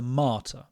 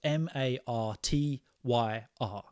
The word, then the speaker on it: martyr: well if we refer to somebody as a Marty for those listening on Spotify it is spelled m a r t yr if we refer to someone as a martyr